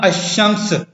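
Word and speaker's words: الشمس: शम्सी कहलाते हैं, यानी लाम सामत होता है, साइलेंट होता है और तलफ़ुज़ में नहीं आता। मसलन अशम्स, ठीक है, अशम्स अलिफ और शीन, ये मुशद्दद शीन जो है वो मुशद्दद है, पढ़ा जाता है।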